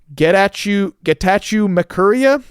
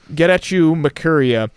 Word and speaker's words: Getachew Makuria: to try my best, Getachew Makuria. it's spelled like get at you almost. Get at you Makuria, who is a Ethiopian jazz artist, I believe.